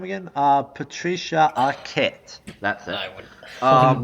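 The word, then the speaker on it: Patricia Arquette: So, Boyhood um stars uh Ethan Hawk and Patric Pat, how do you pronounce her name again? Uh Patricia Aette.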